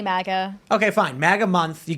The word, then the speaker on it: MAGA: of the idea behind Maga month is because first of all it it's disturbing me Maga you keep saying Maga is it pronounced mag it's definitely Maga okay fine magga month